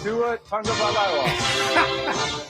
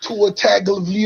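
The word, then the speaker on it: Tagovailoa: This is how the commissioner pronounced his name. Tua Tangabala. That was that was closer than a lot of other people got on his draft day. Tua Taga. There you go. That's better.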